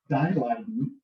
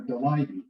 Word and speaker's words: Daleiden: So I'm going to select some stories of the ancestors, particularly from the Daleiden, or my grandfather used to pronounce it Daleiden or Daleiden, so whichever you prefer there.